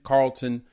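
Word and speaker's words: Carrollton: So because of that, and hey, thanks to y'all for correcting me on the pronunciation, Carlton, Georgia, playing ball there.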